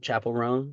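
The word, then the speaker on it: Chappell Roan: Chapel Roan.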